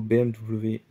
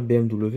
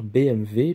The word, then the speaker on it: BMW: Voilà, avec le petit logo BMW devant. Alors, en vrai, on ne devrait pas dire BMW, on devrait plutôt dire BMW, puisque le W se prononce V en allemand, donc on devrait dire BMW.